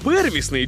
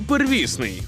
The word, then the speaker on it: первісний: от питання правильно наголошувати первісний чи первісний первісний первісний первісний первісний первісний Якби я не знав що у цьому слові подвійний наголос уже б теж заплутався можна казати і первісний і первісний але ви поки що